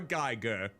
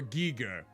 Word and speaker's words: Giger: Oh, the Dork series, Dark Seed, with artwork by the very prolific and disturbing H.R. Geiger, or Giger, however you like to pronounce it.